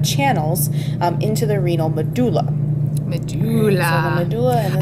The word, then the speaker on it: medulla: um into the renal medulla medulla medulla I've also heard that pronounce medula really really I like medulla better me too but that's this